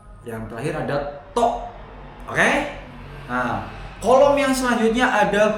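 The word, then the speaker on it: を: Yang selanjutnya ada huruf wo. Tapi sering-seringnya dibacanya huruf o.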